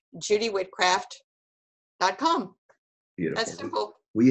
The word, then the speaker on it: Whitcraft: just my name Judy wit Kraft calm we spell it for everybody please Ju dy whit3 and some people are going did she say witchcraft and it's not witchcraft but people think that